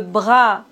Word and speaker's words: bras: S comme le bras. Le repas. On ne doit pas prononcer S final.